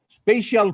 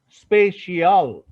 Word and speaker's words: spatial: স্পেশাল part, স্পেশাল নয়, স্পেশিয়াল, স্পেশিয়াল, স্পেশাল, স্পেশিয়াল, আমি স্পেশিয়াল বলছি, SPATIAL।